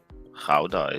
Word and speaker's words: Gouda: Hey, Hex Rockstar, he sent Gouda as well. Yeah. Howda is. And The what now? Sandy Howda? Dude. Is that how you say it? Yeah. Everybody Howda. says Gouda. Yeah.